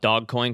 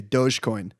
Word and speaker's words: Dogecoin: can i can i i'm going to call it dog coin because that's i think what it is instead of dogecoin i'm still doge i'm a soft soft g dogecoin okay this is obviously